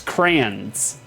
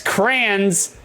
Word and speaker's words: crayons: It's crayons. C-R-A-N-S. Crayons. That's how you pronounce it. If anybody, yeah, crayons. Exactly, John. You got it. Crayons. Crayons. Cranberries. Like, not crayons.